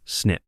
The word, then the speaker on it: SNP: SNP is the acronym for single nucleotide polymorphism, pronounced simply as SNP.